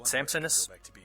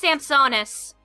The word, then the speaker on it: Sampsonis: Is that how you pronounce it? Sampsonis? It's pronounced Samsonis.